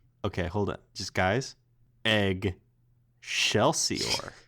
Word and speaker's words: Eggshellsior: way down let you egg shell see or yeah are you hey what about eggs eggs shut up no you're saying it wrong its eggshell see or what about shut the